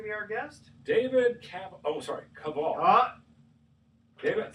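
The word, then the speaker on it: Kaval: You have to call him Cavill because if you call him Cavill, I think for some reason the family doesn't like the French pronunciation. Maybe they're anti-francophiles or something. And don't call me Cavill. It's Cavill. Cavill.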